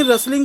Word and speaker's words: rustle: बताओ बेटा, आपकी इतनी रसलिंग क्यों आ रही है? ये जो खुड़खुड़ होती है इसे रसल बोलते हैं, स्पेलिंग होती है RUSTLE।